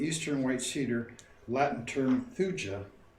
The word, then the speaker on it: thuja: The magic quality of the eastern white cedar, Latin term thuja or thuya, could be the other pronunciation.